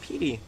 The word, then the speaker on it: Petey: I didn't say Petty. I said Petey. That's what I said. Yeah, sure. I know, but I always pronounce it Petey Piranha anyway. Not Petty.